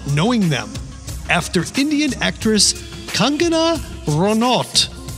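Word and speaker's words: Kangana Ranaut: them after indian actress kangana ranat is that how you pronounce it how do you pronounce it kanganara yes that is it she brought sunny up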